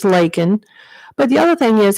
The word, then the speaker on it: Laken: her name he miss he called her Lincoln her name's Laken but the other thing